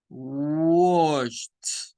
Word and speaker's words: washed: Wash, no es washed, no, es washed, washed, convirtiéndolo en una T.